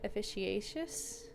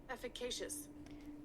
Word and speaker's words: efficacious: therefore probably the first way you said it officious interesting I kind of want to see what that means officious AC how how do you say it Google efficacious efficacious oh successful in reprodu or successful in